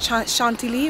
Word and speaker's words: Chantilly: So it's spelled Chantilly, but it's pronounced Chantilly in French.